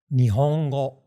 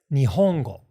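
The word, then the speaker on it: 日本語: This is why so many people, myself included, will say, for example, Japanese as not Nihongo, which is more or less flat, but we'll say it as Nihongo with the accent on the ho, because we kind of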